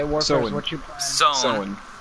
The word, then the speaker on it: Samhain: Sown, which is how Samhain is pronounced.